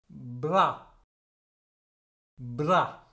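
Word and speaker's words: bras: ப்ரா ப்ரா. அப்போ இந்த சொல்லிலேயும் பாருங்கோ, எஸ்ஸை நான் உச்சரிக்கல, கடைசியில் விதைக்கு இப்படி எஸ்ஸை உச்சரிக்க மாட்டோம்.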